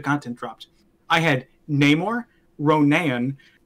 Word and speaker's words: Ronan: I had Namor, Ronan. I pronounce it like that because there's Ronin and Yeah, Ronan.